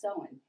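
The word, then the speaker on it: Samhain: to the ancient celtic festival that was called sowen and the word looks a little bit different than that but it is pronounced so in and the celtics lived in present-day ireland uh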